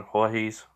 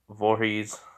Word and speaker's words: Voorhees: you know jason voorhees i do have a tendency to say jason jorge's but you know i don't know why just have a sense to say it like that but i know it's vorhees so you may hear